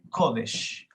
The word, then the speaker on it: kodesh: Sería C-A-D-A-S-H, Kadash, y también C-O-D-E-S-H, Kodesh.